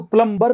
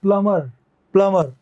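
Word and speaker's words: plumber: अब ये देखो, इसको प्लम्बर नहीं कहते, ये जो बी होता है ना इसमें, ये साइलेंट हो जाता है, इसको बोलते हैं प्लमर।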